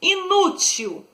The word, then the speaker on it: inútil: Inútil. Inútil é uma palavra paroxítona.